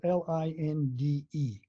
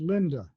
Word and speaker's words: Linde: My last name is spelled Linde, Uh-huh. and it's properly pronounced Linda, not Linda, Linda.